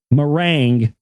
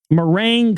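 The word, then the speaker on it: meringue: shaped Ming uh or I'm sorry Ming merang that was a horrible mispronunciation there uh bone shaped mering cookies and fruit punch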